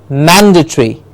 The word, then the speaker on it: mandatory: will say it as mandatory man gets this dress so please correct it in your workbooks the stress is on man the stress is on man man gets the stress its incorrectly typed here